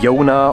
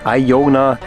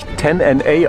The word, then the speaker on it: Iona: I just asked the guide how to pronounce this correctly: Iona or Aiona. And then he says: That would be perfectly fine, either would work. But we shouldn't do it like some Americans, who would pronounce it 10 NA.